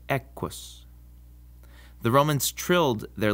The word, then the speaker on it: equus: In Latin, just like in English, the Q is always followed by a U. And in this situation, the U never counts as a vowel. It's just part of the Q. So it's quis and equus.